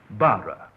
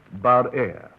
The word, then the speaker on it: Barere: so was frequently mispronounced Barere. The additional E has been added in recent years and helps us to give the correct pronunciation, Barere. Now, I believe that is correct, Mr. Barere?